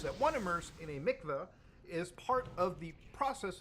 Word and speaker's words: Mikvah: the 770 Chabad headquarters so Mikvah or Mikvah whatever the pronunciation is I'm not Jewish obviously actually says pronounced Mikvah so I was right in the first one almost every Jewish Community